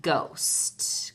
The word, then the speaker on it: ghost: wrong gold post and ghosts careful with ghost that H is silent you cannot hear it alright and that leaves